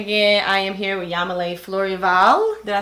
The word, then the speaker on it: Yamilee Fleurival: I am here with Yamile Florival.